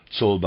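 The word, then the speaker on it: Czolbe: Readers aside, Solba, I'm pronouncing it that way, is spelled C-Z-O-L-B-E, Solba.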